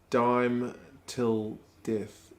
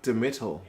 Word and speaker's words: Dime Till Death: My name is pronounced Dime Till Death. Oh. I always thought it was like Demetal. Like D-Metal Death.